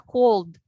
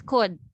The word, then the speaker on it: could: So your L, hindi man ta cold, it's could. So silent L, wala na naton siya transcribe kay when we pronounce the word could, wala taman gina-pronounce ang L na sound.